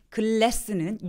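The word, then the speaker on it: glass: 천장에 닿지 않는 혀끝이 천장에 닿지 않고요 근데 글래스는 유리 글래스는 양동글라스는 글라스라고 윗니에 혀를 발음을 해주시면 됩니다 요것도 이제 질문 주셨는데요요 단어들이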